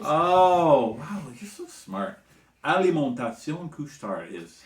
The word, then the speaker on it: Alimentation Couche-Tard: Alimentation Couche-Tard is how you say it in French.